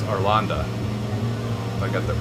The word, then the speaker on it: Arlanda: ESSA, also known as, just had this, Stockholm, Sweden, but it's Arlanda. I got that pronunciation right for that airport.